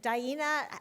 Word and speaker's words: Daena: Daena helped me pronounce her name by saying it rhymes with hyena.